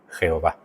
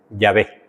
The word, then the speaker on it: Yahvé: Pero fonéticamente debemos entender que no es correcto. Fonéticamente no es correcto, ¿vale? Los hebraístas, los estudiantes más dados, más duchos, han llegado al acuerdo general de que la pronunciación original debió haber sido Yahvé. Y al final, la Biblia Católica tenía razón. Es pronunciación más apropiada para el nombre de Dios, para nosotros, nuestra fonética, debería ser Yahvé.